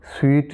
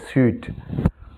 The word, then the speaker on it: suite: എസ് യുഐടിഇ അതിന്റെ ഉച്ചാരണം സ്വീറ്റ് എന്നാണ് വായിക്കുക നമ്മുടെ നമ്മൾ മധുരം എന്ന് പറയുന്ന ആ സ്വീറ്റ് ഉണ്ടല്ലോ ഏകദേശം അതിനോട് സാമ്യമുള്ള ഉച്ചാരണമാണ് എസ് യു ഐടിഇ എന്ന വാക്കിന്റെ സ്വീറ്റ് ഓക്കേ അപ്പോ ഇതിൽ ഏതാണ്